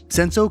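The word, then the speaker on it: Sensō: translate to shallow grass senso comes from the Chinese pronunciation while asakusa comes from the Japanese pronunciation but that topic is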